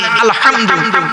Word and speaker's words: আলহামদু: আলহামদু এই গলার ভেতর থেকে এটা উচ্চারণ করবেন, বাপেরা হাতে ধরে বলে যাচ্ছি।